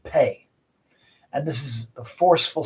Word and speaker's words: phat: In Tibetan mantras, it's pronounced pay.